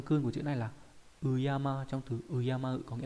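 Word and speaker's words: 敬う: về cách đọc âm cương, đó là Uyama, đọc là Uyama mang nghĩa là kính trọng, và từ Urayamu.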